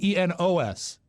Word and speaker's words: Enos: the spinoff from the Dukes of Hazzard, Enos, was spelled E-N-O-S. Let's bring in the Scotsman. Oh, to see is he what still doing. here? Oh, no, I think it should be Enos. Rhymes with penis.